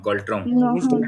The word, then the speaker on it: Ngultrum: गल्ट्रन गल्ट्रम एंटा silent रुहे, एंटा silent रुहे, NGULTRUM गल्ट्रम।